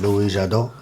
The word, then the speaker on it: Louis Jadot: This is a French wine. So you kind of said it wrong. If it's French, you got to say it. Louis Jadot.